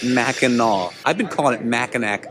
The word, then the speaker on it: Mackinac: ways to travel smarter there is mackinac city m-a-c-k-i-n-a-w and mackinac island m-a-c-k-i-n-a-c it's just two different spellings from two different cultures still both pronounced mackinaw i've been calling it